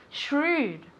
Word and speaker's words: shrewd: how to say this shrewd shrewd this is difficult to pronounce so you have the sh Sam shrewd repeat very good shrewd